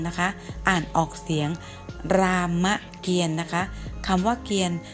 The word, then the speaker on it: รามเกียรติ์: ตอเต่า สะอิด Alan นะ คะ อ่าน ออก เสียง รามเกียรติ์ นะ คะ คำ ว่า เขียน ไม่ มี ต่อ